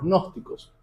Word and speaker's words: gnósticos: Los gnósticos, se escribe con G al principio, los gnósticos, de ahí